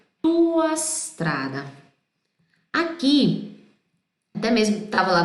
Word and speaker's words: strada: Eu disse pra vocês, pronuncia como se fosse uma palavra só. La tua strada, sem colocar um I aqui.